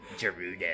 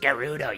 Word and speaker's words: Gerudo: girl but she commands a lot of respects Giroud oh it's pronounced Gerudo you stupid I am Groot